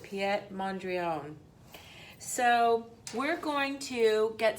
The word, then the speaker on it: Piet Mondrian: we're going to do and actually pronounce it piet mondrion so we're going to